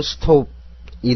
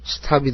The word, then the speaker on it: stop: 영국식 발음과 미국식 발음의 차이는 오를 오로 읽느냐 아로 읽느냐입니다. 예를 들어 STOP에서 오를 오로 읽으면 스톱이 되고 이는 영국식 발음이 됩니다. 또 오를 아로 읽으면 스탑이 되고 이건 미국식 발음이 되는 겁니다.